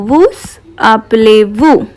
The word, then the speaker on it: vous appelez-vous: Comment vous appelez-vous? Comment vous, I'm pronouncing S because this is a vowel.